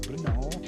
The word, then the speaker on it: Brno: I'm not sure whether this is pronounced correctly, but this is the way I can do it. Brno.